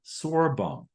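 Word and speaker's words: Sörbom: in 1976 by, and here pronunciations vary, here's mine, Joriskog and Sorbum. So LIST Rule 3 in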